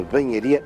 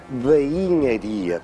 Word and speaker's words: Banharia: E o que é curioso é que mesmo a atual designação, a rua da banharia, em boa verdade deveria se pronunciar rua da bainharia, porque um dos produtos de alguma forma afamados que era produzido pelos ferreiros do Porto eram as espadas. As espadas e a respectiva bainha, dizemos desembinhar uma espada.